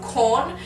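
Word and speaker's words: Quorn: lot out there there's a brand called corn which is spelled q n and I've only discovered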